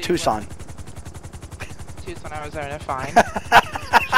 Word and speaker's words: Tucson: You know, I once heard a story about a lady pilot, a blonde, who was flying through Tucson, Arizona, and Tucson. It's pronounced Tucson.